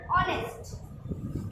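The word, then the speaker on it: honest: এবার আরেকটা নিয়ম, অ্যানে এইচ এর উচ্চারণ যখন সফট কোমল বা নরম হয় তখন তার আগে অ্যান বসে, যেমন অ্যান অনেস্ট। এখানে এইচ এর উচ্চারণ কোমল থাকতে পারে বা উচ্চও থাকতে পারে, তাই জন্য অ্যান অনেস্ট।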